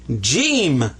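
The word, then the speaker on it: ج: there his name is jim so whenever you see ha but he's got this that's jim and so this is the sound of an h this is a sound of a j ja now watch this one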